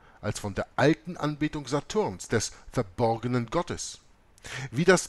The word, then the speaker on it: Stur: Die Bezeichnung Saturn im Chaldäischen wird Satur ausgesprochen, besteht jedoch, wie jeder chaldäische Gelehrte weiß, aus nur vier Buchstaben, nämlich S-T-U-R, Stur.